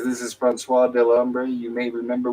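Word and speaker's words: François: get his name wrong I'm gonna keep calling Vincent franois it's Fran fris franois thank you stay there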